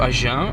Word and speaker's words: Agen: So yeah, we are going to Agen, are we? Agen, exactly. Agen.